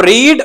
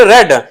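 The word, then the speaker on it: read: ही रेड good box अब रीड रेड रेड इसके अंदर स्पेलिंग एक ही हैं और जो बच्चे बहुत साड़ी गलती कर देते हैं इसको रीड पढ़ना स्टार्ट कर देते हैं रीड नहीं होता वर्ब की सेकंड फॉर्म हमेशा रेड होती है रीड रेड रेड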